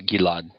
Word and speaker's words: Gilead: Orgill yeah he would you probably pronounced a Gilad Gilad which we had a moment